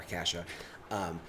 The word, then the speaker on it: cassia: Cassia, Cassia, pronounced kesha or cassia.